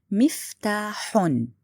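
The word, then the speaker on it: مفتاحٌ: You have to say miftahun. Again, I pronounce noon with dhamma, but wrong to write it this way.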